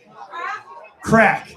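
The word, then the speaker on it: craic: Crack. Now the Irish spell it C R A I C.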